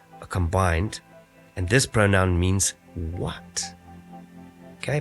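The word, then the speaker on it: מִן: and nun safety and this is pronounced as mean and it's a preposition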